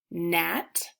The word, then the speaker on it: gnat: Gnat, and sign. KN makes the sound so the K is silent.